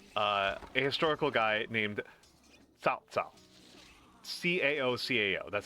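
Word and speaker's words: Cao Cao: Uh, a historical guy named Tao Ca Oo, that's how you pronounce it.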